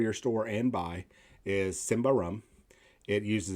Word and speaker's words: Symbaroum: creates games such as simba rum which is the swedish pronunciation to tales from the